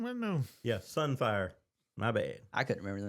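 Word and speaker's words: Sunfyre: I'm sorry, we're saying the name wrong. That dragon we're talking about's there. It's Sunfire, Sunfire, okay.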